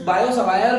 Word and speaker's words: Biot-Savart: इसको प्रोनाउंस बायो-सवायर भी करते हैं, बट हम देसी लोग बिल्कुल जैसा जैसा लिखा है वैसे वैसे ही प्रोनाउंस करेंगे, बायो-सवार्ट लॉ।